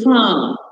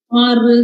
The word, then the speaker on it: far: So we just say fa, star. We don't say far, star.